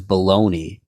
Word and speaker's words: bologna: on the lunch list was baloney now I know this now but bologna is spelled bologna so I got up there